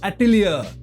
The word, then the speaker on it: Atelier: विच हैट एटिलिया। एटिलिया ही pronounce करते हैं ना, स्पेलिंग है ATELIER।